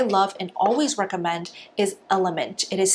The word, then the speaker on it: LMNT: brand that I love and always recommend is element it is spelled out lmnt and this is the flavor